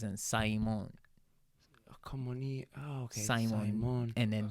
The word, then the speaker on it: Kamoni: And then Kamoni, which is how you say my name in Japanese, and Simon. Kamoni.